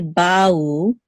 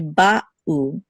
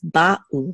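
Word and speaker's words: בָּאוּ: We don't want to say ba'u, we want to say ba'u. There should be a distinct pause between the two syllables, ba'u, not ba'u. They should not flow together, the two syllables. They should be distinct, ba'u.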